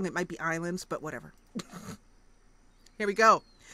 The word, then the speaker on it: Ylands: you very much Joe it's pronounced like Island okay so I will say Island from rent from now on even though it looks to me like Weiland's okay so let's click